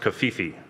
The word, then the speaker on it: CFEE: In terms of Stratos, you know, being used by IBM in their Cloud Foundry Enterprise environment, that's CFEE, which I believe is pronounced Kafifi.